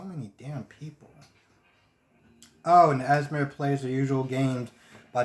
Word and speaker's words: Esme: One, I could have swore I heard somebody else say Esmer, and it's not Esmer, it's Esme, which, to be honest, and